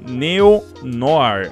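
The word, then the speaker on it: Neo-Noir: a WP newnor né que na verdade pronuncia-se neonohare alguma coisa assim no ar essa daqui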